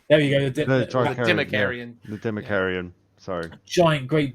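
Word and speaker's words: Dimachaeron: How do you pronounce it, Tim? Sorry, say that again. It's the Democarian. There you go. The Democarian.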